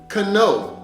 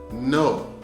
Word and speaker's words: know: I can think of so many times when I was little or in other situations that someone pronounced the word cano when they were trying to say the word no.